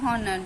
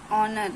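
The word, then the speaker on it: honour: लोग प्रन करते हैं हनर जिनको पता नहीं होता बट इसका प्रशन तो नर हम हनर नहीं बोलेंगे कई लोग प्र हनर जिनको पता नहीं होता बट इसका प्रोनाउंस ऑनर है एस एच ओ यूर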